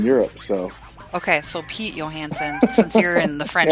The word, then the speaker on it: Johansson: it's a Swedish last name, and in Sweden they don't pronounce J's; they're pronounced as yeah. What do they have? So it is technically Johansson.